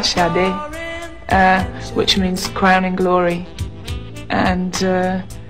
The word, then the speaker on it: Sade: My name is, my true Nigerian name, or the true Nigerian pronunciation, or as close as I can get to it, is Shade, which means crowning glory.